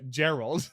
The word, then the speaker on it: Gerald: Oh, that's pronounced Gerald. Thank you. Oh, a soft G.